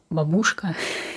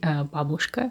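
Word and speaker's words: Бабушка: Russian Gran Babushka and Babushka is how to pronounce it in correct way because I uh I he I heard quite often uh Babushka that's not correct you should say Babushka so the first name which is very well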